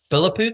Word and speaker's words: Filipuk: I am uh with Alex uh Philipuk. Is that the way you pronounce it, Alex?